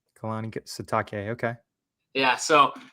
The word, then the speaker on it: Kalani Sitake: And how do you pronounce his name again? I don't want to say it wrong. Kalani Sitake. Kalani Sitake.